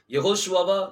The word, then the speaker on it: யெகோஷுவா: பாருங்க, அது யெகோஷுவாவா யாஷுவாவா அப்படின்னு சொல்லி ஒரு கேள்வி வந்துச்சு. சோ அதனால இந்த வீடியோ உங்களுக்கு முன்னாடி நான் வச்சிருக்கிறேன். சோ யாஷுவாங்கிற உச்சரிப்பு வராது. அது என்ன உச்சரிப்பு வரும்? யெகோஷுவா.